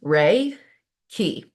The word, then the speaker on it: Reiki: kind of look Okay cool so what is raiki Right Reiki roughly translates to Universal Life Force energy and it's pronounced Ray key okay the key portion is known asqi life